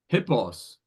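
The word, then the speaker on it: ἵππος: And So does that have the breathing mark then? it does have a breathing mark on the initial iota. It's iota P Omicron sigma. Because there's no H letter. So there's no initial H consonant.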